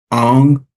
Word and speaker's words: Ong: Allison Ang. Did I pronounce that right?